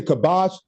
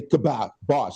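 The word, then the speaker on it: kibosh: Kabash or Kabash. I mean, some people say kabash, you know. I just say kab bosch.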